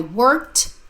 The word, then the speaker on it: worked: E the e d sounds like T I worked hard all day I worked hard all day